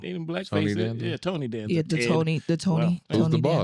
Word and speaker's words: Tony Danza: Yeah, Tony Danza.